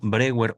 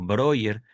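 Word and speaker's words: Breuer: compañeros ya más avanzados como por ejemplo Brewer o Broer, como ustedes gusten pronunciarlo. Brewer es como latinizando el el nombre de Joseph Brewer o Broer.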